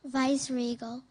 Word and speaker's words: viceregal: Am I pronouncing it right? Viceregal. Yes.